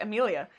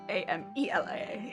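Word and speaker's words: Amilia: even then it's like because the way i say i think i say like amelia said okay a-m-i-l-i-a when it's a-m-e-l-i-a it's it's a lot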